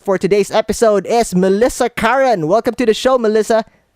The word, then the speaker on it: Curran: our special guest for today's episode is Melissa Karen welcome to the show Melissa thanks Jan it's